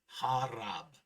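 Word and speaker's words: harap: P sounds like B. Example 2, harab.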